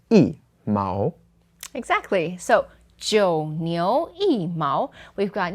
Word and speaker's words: 一毛: has the second tone, then the E changes to the fourth tone and it becomes E. So here it's not E Mao, it is E Mao.